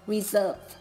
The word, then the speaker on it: reserve: Ta có thể thấy ý A, ý B, ý C, âm S được đọc là z, còn ý D, âm S được đọc là s.